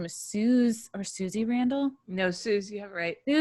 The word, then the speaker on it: Suze: Suze like booze. That's how But she tells people how to pronounce her name, because a lot of people mispronounce it.